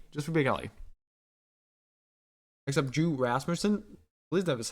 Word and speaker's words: Rasmussen: Except Drew Rasmussen, at least that is how you say his name.